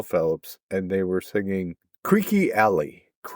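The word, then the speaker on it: Creeque Alley: Phillips and Michelle Phillips and they were singing Creeky Alley. Creaky Alley and it's spelled Cheers C R E E Q U E.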